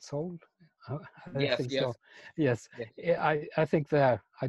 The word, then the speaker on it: Seoul: that's interesting I mean in Seoul you pronounce it sold yes I think that